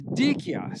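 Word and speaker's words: Dyckia: language and it turns out the way it's pronounced is dikia so now we're saying dikio but be prepared to hear it pronounced other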